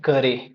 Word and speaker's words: currere: तो यहां पे जो हमारा वर्ड करिकुलम है, ये एक लेटिन वर्ड है जिसको हम कहते हैं करे। सी U double R आर इ आर ई करें। ये इसका प्रोनाउंसिएशन है।